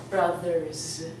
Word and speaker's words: brothers: It's the same pronunciation with brother. If you have more than 1 brother, you're going to say, I have 2 brothers. It's going to sound like brothers.